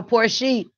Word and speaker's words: Porsche: certificate is spilt Porsche I'm saying no poor she is poor sheep oh poor she so I got a